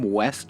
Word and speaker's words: Wes: Well, my name's not West. We're going to go over this um probably every day. I'm gonna say my name is Wes.